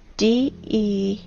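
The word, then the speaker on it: дерево: You know, in the Russian language, the word tree is spelled D-E-R-E-V-O, de-re-vo.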